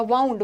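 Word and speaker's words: wound: तो वाइंड का ना वाउंड होता है, इसको वुंड मत पढ़ना, वाउंड, वाउंड पढ़ोगे।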